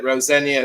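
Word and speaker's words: Rosenior: And um I think a lot of people have just made it very clear that Rosenia is how you pronounce it. There's no senior as such.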